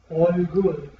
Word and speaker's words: 얼굴: Pronunciamos 얼굴, All good, 얼굴.